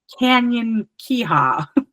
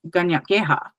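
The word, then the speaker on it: Kanien'kéha: Like if my English speaking brain would look at that and say like Canyon Kiha, and the way that it's actually pronounced is Ganyak Geha. So right away, our K is sounding like a G, and our en is kind of like an oh.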